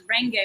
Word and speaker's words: Range: Yeah, well, Range actually pronounced as Renge, but no one could pronounce Renge, so we went to the range and, are you in range?